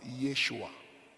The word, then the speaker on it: Yeshua: which is from Hebrew the word Jesus in Hebrew is being pronounced as Yeshua Yeshua and the word Yeshua is being pronounced in English word as Joshua not Jesus as Joshua Yeshua please google it check